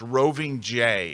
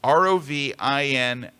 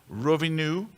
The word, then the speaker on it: Rovinj: It looks like it's pronounced Roving J. It's Rovinj, but they don't pronounce the J. They pronounce the NJ as new. So it's like Rovinu.